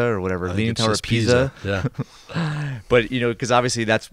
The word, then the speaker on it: Pisa: have the leaning tower of how do you pronounce it? Piazza or pizza or whatever. Leaning Tower of Pisa.